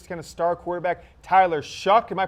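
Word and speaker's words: Shough: kept kept there's kind of star quarterback Tyler shuck and my pronouncing that right yes it is a Tyler shuck will have him for an interview later today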